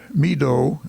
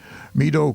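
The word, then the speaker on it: Meedoe: Meadow, it's spelled M-E-E-D-O-E, Meadow Canton has purchased a strip of land from Mr.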